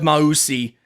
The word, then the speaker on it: Mausi: So like if the addition of Mausi, which people who listen to my podcast know I never get names right, so I'm glad I got that one. If Mausi, that's according to the Duke pronunciation guide on their site. So thank you, Duke.